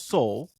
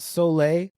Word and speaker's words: Soule: So this was written by Charles Soule and illustrated by Luke Ross with some covers, some fantastic covers by Lanil Yu. Now, So it's Tim, Soul. It's Soul, not Soleil. It's Soul.